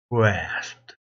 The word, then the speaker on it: grasped: P 발음이 거의 안 나죠.